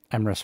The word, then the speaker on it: Emrys: I was gonna raid Emrys Rhymes with Abyss because it's a fellow Emrys, but if you have somebody else that needs the views more, go ahead.